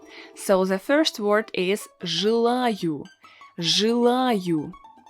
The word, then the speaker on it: желаю: So the first word is желаю. Желаю. As you can see, we need to pronounce a vowel ye as y.